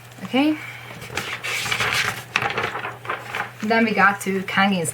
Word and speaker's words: Kangin: It's an A. Always. It's romanized. This is a vowel which is romanized the same as always. A. Kang. Kang, same little circle down there. And Kang. Ang. A. Kang. And nothing. I. N. In. Kangin. It's like very easy. If you just remember that it's not Kang, it's Kang.